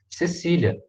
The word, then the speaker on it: Caecilia: também igual gênero né cecília cecília um filho já me corrigir silêncio pelo amor jesus expiram filho a então se escreve caecilia mas se lê cecília tá igual o nome em português ep 1 a sinóvia